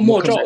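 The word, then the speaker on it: 默照: So mo chao or mo sao, how do you say it? Oh, mo chao, it is silence.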